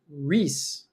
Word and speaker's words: Reese: Reese. Like Reese's Pieces?